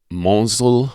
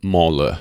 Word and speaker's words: Mansle: And I know it looks like Mansley or Monsle, but the S is silent, so it's pronounced Mansle.